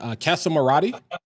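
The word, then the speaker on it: Casamorati: Um, and so this is from the is it Casamarati? Is that the way you pronounce that? Yeah, Kasa. Kasa means house and morati.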